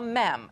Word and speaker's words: MEM: Yeah, it sounds gross, but I'm going to introduce you to something called a MEM. Not a meme. I promise I'm saying it right.